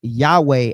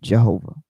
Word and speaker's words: Yahweh: modern scholars typically everybody will go into Yahweh as the actual pronunciation because it's more uh it has more um uh logistical uh authenticity because it comes from the actual Greek.